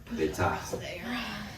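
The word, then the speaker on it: בֵּיתָהּ: And you pronounce that hey. Just a little bit. Beita. Just a little extra air.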